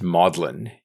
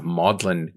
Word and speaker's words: Magdalen: the Mary Magdalene um the the word is pronounced modlin in in Oxford mostly because of its latinization um and Lewis was a member of modlin college as a tutor for 29 years um